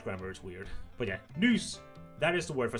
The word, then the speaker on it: nys: It's called at man nyser. You nys. N-Y-S. Nys. That is the Danish word for sneeze. So I sneezed. Jeg nys, and that is the Danish grammar is weird. But yeah, nys, that is the word for sneeze.